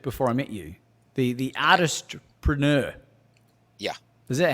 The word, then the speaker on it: Artistpreneur: So because you mentioned a word there that I haven't heard before I met you, the artistpreneur. Yeah. Is that how I'm pronouncing it right?